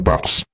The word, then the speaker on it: P4x: Pinili niya ang P4X binibigkas bilang Pax, isang chickenad sa pag-enforce ng peace through punishment.